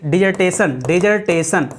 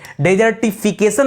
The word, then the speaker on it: dissertation: डेजर्टिफिकेशन मत बोल दीजिएगा, नहीं तो वो मरुस्थलीकरण हो जाएगा, ठीक है। डेजर्ट मरुस्थल को कहा जाता है, तो मरुस्थल की स्पेलिंग होती है DESERT, तो डेजर्टिफिकेशन हो जाता है तो मरुस्थलीकरण हो जाएगा। ये दोस्तों DISS है, ठीक है, DISSERTATION, याद रखेगा।